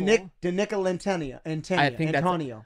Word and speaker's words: Nicolantonio: You spell it D-I-N-I-C-O-L-A-N-T-O-N-I-O. That is a mouthful. Nicolantonio.